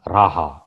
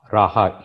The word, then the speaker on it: Raja: The Filipinos call him as Raja, Raja Humabon. J is silent in Spanish.